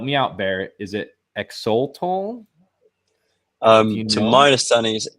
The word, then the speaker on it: Axolotl: starter, and help me out, Bear, is it Exoltol? To my understanding, is Exolotl.